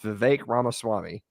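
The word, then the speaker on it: Vivek Ramaswamy: his aspirations have ended I finally learned his name it's V ramaswami and I said it wrong until it didn't matter anymore because that's just kind of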